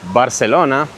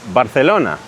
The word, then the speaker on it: Barcelona: Likewise, words, or letters, should I say, like C and Z are pronounced like th. So, think. It's not Barcelona, it's Barcelona.